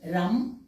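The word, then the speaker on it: रं: इसका मंत्र होता है सोलर चक्रा के लिए रम आर ए एम आप राम का उच्चारण कर सकते हैं ग्रीन चक्र है या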